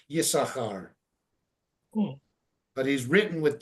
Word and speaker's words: Yisachar: We don't pronounce the Yisachar, the guy. His name is listed with 2 sins, but his name is pronounced with 1 sin. Okay. So therefore, they don't put a shva or anything. It's not Yisasochar or anything like that. It's just Yisachar.